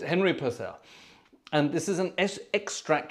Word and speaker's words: Purcell: pronounced Purcell is it pronounced personal is it pronounced it's personal people it's Henry Purcell and this is an extract from his Opera